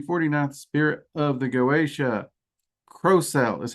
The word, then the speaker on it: Crocell: Crocell is how I've always heard it pronounced. I have heard a few people pronounce it Crocell, but I've always heard it with the hard O, Crocell.